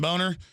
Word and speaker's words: Boehner: The Speaker of the House, John Boner. I mean, John, well, it is pronounced Boner. He tells us to say Boehner.